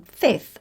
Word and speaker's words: fifth: adding th apart from Fifth and 12th and they can be a bit of a headache when it comes to pronunciation because you've got a f sound followed by a th sound Fifth and 12th fifth